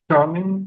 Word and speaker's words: Charnin: And so, I'd like to begin with Shaing. Did I pronounce that correctly? Shing.